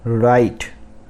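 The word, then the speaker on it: write: उसके बाद आते हैं राइट। राइट, यहाँ पर W साइलेंट है।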